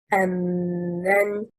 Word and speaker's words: أَمَّنْ: The correct performance stressing on حركة الميم is أَمَّنْ. It is two words, plus an interrogative man. It needs to be separated in performance.